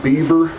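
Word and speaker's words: Bever: The Ohio paper mill was started in 1806 by a man named John Beaver, and his name was spelled B-E-V-E-R, but everybody pronounced it Beaver.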